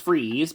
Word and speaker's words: Fries: because, you know, like, obviously it looks like Fries, but it's pronounced Freeze, but then his villain name is Mr.